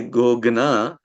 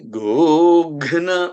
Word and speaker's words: गोघ्न: Now, if you say go ghna, now it is becoming that ghna is saying Agni kind of word. So you have to keep that pronunciation exactly how it should be so that you are not altering the meaning.